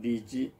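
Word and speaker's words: 李贽: 탁자에다 나오자 그래서 타고 중국어로 하면 리지 이쪽라고 합니다 우리 발음으로이지 또는 호로 더 많이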